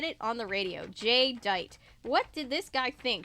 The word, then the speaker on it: Jedite: was an idiot yeah but my real name is spelled differently he insisted my DJ name was spelled j-a-y and that was only my first name but my bad guy name my bad guy name is spelled g-e or sorry j-e-d-i-t-e it's one word that's really stupid Serena